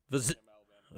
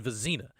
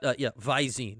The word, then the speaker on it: Vizina: Okay, he said Vizina. I could hear it, not you. He said it right in my ear. Vizina. So Christopher Vizina appears to be the leader right now. But Vizine. It's an I situation.